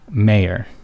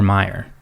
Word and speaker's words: Mayer: Well, it's now spelled Mayer, Mayer. So it's now pronounced Oscar Mayer Wiener. We're talking about, like, an entire family's name is different. I remember Meyer.